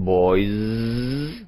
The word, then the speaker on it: boys: 11, boys. Dengan Z, boys.